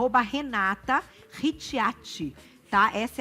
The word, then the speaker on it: Ricciati: @ Renata Ricciati. Tá? Essa é a pronúncia _Nutri.